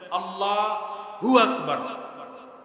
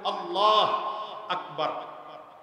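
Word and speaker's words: الله أكبر: আল্লাহ আরেক হলো আকবার এখন আপনি যদি বলেন আল্লাহু আকবার আল্লাহু আকবার হু আকবার এটাও ভুল এখন যদি বলেন না এটা ঠিক না বলতে হবে আল্লাহ আকবার এটাও বলবে কথা কয় না ঠিক তাহলে কি বলতে হবে আল্লাহু আকবার আল্লাহু আকবার ঠিক তেমনি ভাবে সামি আল্লাহু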